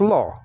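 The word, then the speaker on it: לא: And then you have a silent letter, aleph, right after that. So it's lo.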